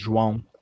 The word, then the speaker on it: João: And obviously it's different in Portuguese. It's a different pronunciation. It's called João. We kind of roll it, João.